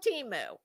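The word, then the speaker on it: Temu: but not here we we call it Teemu and since we are probably um the currency that is supporting it well I think you should go with our pronunciation okay so I will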